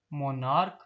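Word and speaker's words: monarch: और मोनार्क में सिर्फ एस ऐड हुआ है क्योंकि सी एच के के तौर पर प्रोनाउंस किया गया था।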